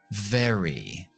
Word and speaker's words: very: Very. Very. Repetimos. Very very. Compara tu pronunciación con la mía.